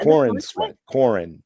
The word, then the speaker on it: Corenswet: Yeah, Corenswet. Corenswet. Yeah. Corenswet. Almost like corn on the cob.